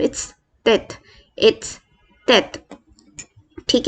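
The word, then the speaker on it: tête: Basically इसका generally कोई extra ordinary sound नहीं होता, ये एक ठहराव के साथ हल्का सा रुक के हम इसे प्रोनाउंस करते हैं, जैसे तेत तेत तेत।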